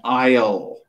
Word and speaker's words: aisle: It is called an aisle. Aisle. So it's pronounced differently than the way it's spelled. So aisle, A-I-L, A-I-S-L-E, the S is silent.